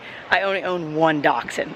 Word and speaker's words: Dachshund: the history it's pronounced dachshund it's a German word uh dachshunds were I